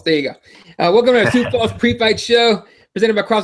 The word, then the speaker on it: Sioux Falls: Welcome to our UFC Sue Falls that's how you say it sue su falls yeah yeah close enough South Dakota sou Falls there you go welcome to sou Falls pre-fight show presented by